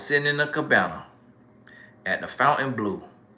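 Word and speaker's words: Fontainebleau: the cabana at the fountain blue which it might be pronounced fontaine blue down in miami and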